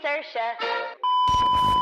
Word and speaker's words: Saoirse: Sí me he puesto a estudiar cómo pronunciar ese nombre porque ya es como un chiste que nadie lo puede pronunciar, ¿verdad? My name's Saoirse Ronan.